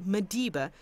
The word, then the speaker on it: Maliba: Maliba Lodge is situated in a nature reserve. Maliba here is pronounced Madiba, a Sesotho word meaning water.